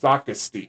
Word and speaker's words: Socastee: Peachtree Landing is a small, remote boat ramp located in, pronounce that for me. Socastee.